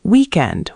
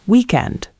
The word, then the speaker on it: weekend: Saying weekend with stress on the second syllable. Remember, it's weekend.